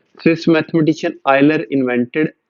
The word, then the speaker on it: Euler: Swiss mathematician आयलर invented, ये ठीक ही है प्रोनाउंसिएशन मैंने।